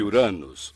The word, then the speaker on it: Uranus: Eu digo Uranus. Acho que as pessoas têm vergonha de dizer de outra forma. Uranus, isso. Eu chamo o planeta de Uranus, que provavelmente é bem mais próximo da pronúncia original do nome do deus que lhe deu este nome.